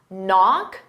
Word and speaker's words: knock: Knock, the K is silent.